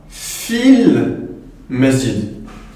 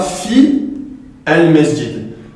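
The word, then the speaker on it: في المسجد: Donc ici, on dira fil masjid. Fil masjid. Donc on ne dira pas fi al masjid. Pourquoi? Parce que la hamzatul wasl ici se retrouve en milieu de phrase.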